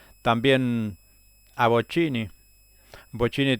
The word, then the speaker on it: Bochini: Bochini también se recordaba porque Víctor Hugo le decía, "La lleva Boquini, la lleva Bini y